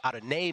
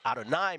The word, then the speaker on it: Adonai: them ad Mitchell uh then people say Adon Mitchell and then of course those on the leaflet and those in the mbuka we say Adonai Mitchell which I think is how you really should pronounce it just want to say it right now just be clear about that um Michael uh let's